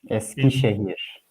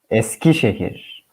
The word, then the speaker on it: Eskişehir: How you say it? Eskişehir. All right, with a Turkish accent. Say it again. Eskişehir.